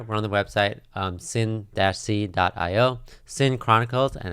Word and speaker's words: Cyn-C: so right here we're on the website um sin c dot io sin chronicles and it's spelled c-y-n uh and of course they start